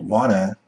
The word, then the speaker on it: wanna: drive the next word wanna is very similar to Ghana also two syllables were the stress on the first level and the second syllable reduced let's listen to some